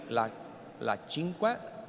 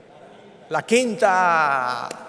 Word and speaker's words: La Quinta: I want to also thank to our agency, La Cinque, I think I'm saying correctly, La Cinca. What is the name, Liv? How do you say 5 in Spanish? La Cinca. Cinca, correct? No? La Quinta. Sorry, La Quinta.